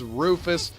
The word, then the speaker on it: Rufus: Alright, that guy's name is Rufus. It rhymes with Doofus.